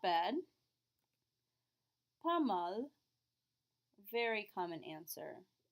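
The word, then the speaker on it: pas mal: that you're not bad pamal very common answer P we still don't pronounce our s but we do pronounce the L there are four letters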